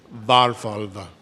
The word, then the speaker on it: Varfalva: Accent on the first syllable, Varfalva. I got it right.